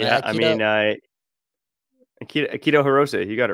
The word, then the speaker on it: Akito Hirose: do I say his name I mean uh keto Hiroshi you got it right oh okay perfect man